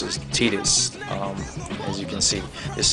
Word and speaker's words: Tidus: thought it was person I thought it was Titus but I looked it up online and it's actually pronounced as tetus um as you see this is the first